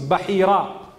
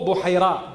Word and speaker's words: Bahira: His name was Bahira or Buhaira, depending on how you want to pronounce it.